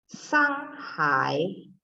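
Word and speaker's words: 上海: Kalau Shanghai, Shanghai. iya, nadanya bagus ya, nada 3-nya yang hai, Shanghai. 好，再来 China, Trung Quốc.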